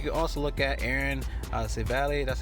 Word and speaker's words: Civale: You can also look at Aaron Civale, that's how you pronounce it, going against the Mets.